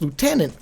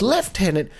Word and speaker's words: lieutenant: Now, he even goes on to say lieutenant is pronounced lieutenant for Americans, but it's left tenant for the British.